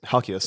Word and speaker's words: Halkias: I don't actually know how to pronounce Stavy's last name. Yes, Halkias.